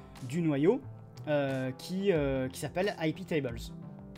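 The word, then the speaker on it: iptables: noyau qui qui s'appelle hippie table oui pétable si vous préférez si vous voulez le prononcer en français et donc hippie table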